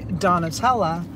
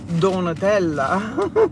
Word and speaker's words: Donatella: And I said, well, I said, most American people say Donatella. I don't correct anybody. I said, but the proper pronunciation is Donatella.